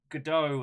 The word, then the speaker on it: Godot: they got it stands Godot I believe is how everyone's pronouncing it but I'm going to keep calling it got it because it makes